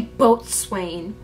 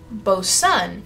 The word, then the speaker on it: boatswain: They try to trip you up with a silent letter in there. Do you know anything about etymology? Etymology? What? Bosun.